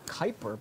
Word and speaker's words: Kuiper: And then New Horizons, now it was at Pluto, and then it's gone further into the Kuiper belt. Is that how you pronounce that?